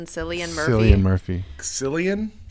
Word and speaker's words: Cillian: Cillian. It's I don't know I how thought you it was pronounce Killian. it. It's Irish, right? Or something. If it's Irish, it's probably Killian. I think it's Killian.